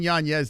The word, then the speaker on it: Yanez: I've been saying Yanez, though, ever since I'm like, I'm going to say it right.